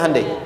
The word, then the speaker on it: Hyundai: bikin Honda sini hundai Hyundai kan dibacanya hundai ya kan sana Honda sini